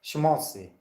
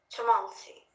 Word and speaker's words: schmaltzy: How it's pronounced? Schmaltzy. Schmaltzy.